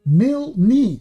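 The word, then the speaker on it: Milne: Mil, that's how you pronounce it.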